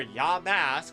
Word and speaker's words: Yamask: as maybe yisk or Yamask I'll say it right for you but yamus sounds better on my mouth tongue lips thing um I